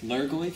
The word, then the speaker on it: Lurgoyf: Lurgoyf, is that how you say it?